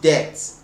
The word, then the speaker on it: debt: um debt is debt as in debt it's pronounced debt but i'm not saying death okay i'm not